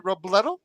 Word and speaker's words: Robledo: Robledo. Is that correct? That unfortunately is not correct. It's pronounced Robledo. Robledo. Okay, so take Yeah. the E and make it two E's.